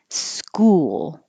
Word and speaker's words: school: I could almost put two syllables like school because you do make your lips round, school, and then you have to make your lips not round for the L, school.